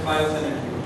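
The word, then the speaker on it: phytosanitary: And biosanitary is spelled as PHYTO, phyto, sanitary, SANITARY, and it is pronounced as biosanitary.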